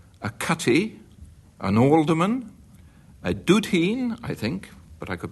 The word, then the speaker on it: dudheen: A straw, a cutty, an alderman, a dudheen, I think, but I could be wrong, and D-U-D-H-E-E-N. How do I pronounce it?